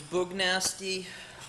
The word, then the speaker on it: Boog Nasty: My name's Boog Nasty. Pronounced with an oog nasty.